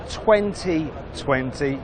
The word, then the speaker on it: 20V20: It's the Seat 2020. Now it's written 20V20. Don't pronounce the V because it stands for vision, which relates to the fact this is a concept.